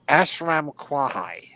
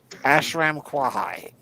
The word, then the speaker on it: Ashram Kwahai: So the guy in the robes is named Ashram Kwahai. KWA-HAI. He's the one. Can we make that easier to say? Nope, that's his name. Ashram Kwahai. Ashram Kwahai.